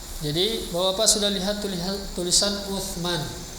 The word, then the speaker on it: Uthman: Jadi Bapak sudah lihat tulisan Uthman. Kita ma'ruf bacanya Usman. Tulisan Indonesia kan. Nah, ini aslinya. Ain sa. Uthman.